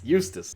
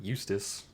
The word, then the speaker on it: Eustace: Houston Houston Houston Houston Eustis but no it's pronounced to Eustace okay so I think